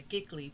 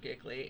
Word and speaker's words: Giclée: But the Giclée print, and the word Giclée, the properly pronounced word Giclée, it comes from French and basically means to squirt.